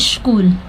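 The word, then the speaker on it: school: वाली चीज है कि स्कूल ठीक है एस के बाद अगर सी एच आया हो तो वहां पे सी एच को क पढ़ा जाता है लेकिन अगर चिल्ड्रन को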